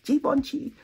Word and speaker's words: Givenchy: I was saying Givenchy for 100 years until somebody put it in my comment section. It's Givenchy. Okay, they spelt it like that, and now I know better. Givenchy, I'm sorry. Givenchy.